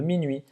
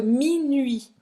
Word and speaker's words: minuit: Presta atenção nessa pronúncia, tá? Minuit. Não vai falar esse T no final, né? Minuit. E esse U é o U francês, tá? Faz a boca do U e fala aí. Tem que fazer o bico mesmo.